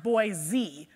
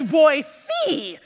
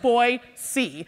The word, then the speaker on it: Boise: a local right so Boise is not pronounced boy Z right guys locals here how is it actually pronounced boy you hear that it's boy C right so you want